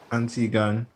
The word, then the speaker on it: Antiguan: Antigua, Antiguan. GUAN is like a one, like on, and, but like a boy.